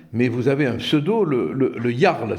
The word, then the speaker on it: Le Jarl: vous avez un pseudo, le Jarl, c'est ça, hein, on prononce comme ça.